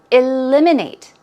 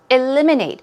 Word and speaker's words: eliminate: of all vocab words eliminate stress goes right there on the second syllable eliminate eliminate it means to remove